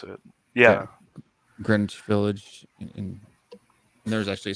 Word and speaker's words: Greenwich: yeah and then there's you have greenwich which we don't pronounce the w but it is spelled greenwich which is yeah which is how they pronounce it yeah greenwich village and there's actually